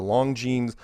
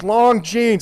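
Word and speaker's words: Longines: It was like the 60 Minutes of his day, called the Long Jeans. I pronounced it wrong. I pronounced it Long Jeans, and I had older people calling me up. It's Long Jeans.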